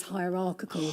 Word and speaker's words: hierarchical: higher hierarchical but anyway the fact that the second syllable bears the main stress that that doesn't change. So you say hierarchical hierarchical and as you can see here in the transcription I took from the online Cambridge Cambridge dictionary this word has two stresses a primary stress on ra and a secondary stress on the first syllable higher hierarchical Cool.